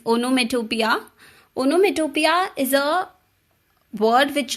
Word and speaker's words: onomatopoeia: It is pronounced as onomatopoeia. Okay, it's onomatopoeia.